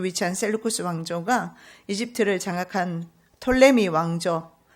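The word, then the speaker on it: Ptolemy: 라 그리고 남쪽 이집트를 톨레미 내 혹은 프톨레미 라고 하는데 영어발음 하게 따라서 pe 를 읽으며 프톨레미 읽지 않으면 톨레미 로 읽습니다 톨레미 뭐 포털 라임이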